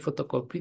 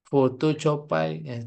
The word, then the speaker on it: fotokopi: seperti kreativitas kemudian fotokopi jadi fotokopi tulisannya seperti ini sesuai dengan pengucapan orang Indonesia bukan foto copai copai ituy Nah itu